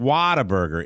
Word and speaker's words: Whataburger: And you're saying Whataburger? Whataburger. It's Whataburger. Whataburger. Whataburger. Spell it.